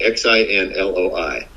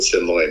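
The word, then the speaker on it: xin lỗi: And every guy that served in Vietnam knows what Sinloy means. It's like, sorry about that. Sucks to be you. What is it? Xinloi. Sinloy. Yeah, it's pronounced S-I-N, but it's spelled X-I-N.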